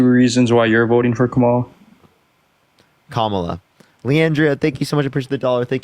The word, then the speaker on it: Kamala: Can you give me 2 reasons why you're voting for Kamala?